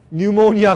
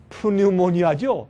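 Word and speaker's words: pneumonia: 영어로 뉴모니아 걸렸을 때 뉴모니아, 폐렴 그렇죠? 그러니까 이걸 사실 그대로 읽으면 푸뉴모니아죠. 근데 이 P는 발음 안 하기 때문에 뉴모니아.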